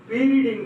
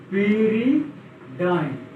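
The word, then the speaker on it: pyridine: ठीक है, तो आज जो हम बताने जा रहे हैं पीरिडीन का यूज करके, पीरिडाइन, डीन भी पढ़ते हैं, डाइन भी पढ़ते हैं, P/RI भी लिखा मिल जाएगा आपको।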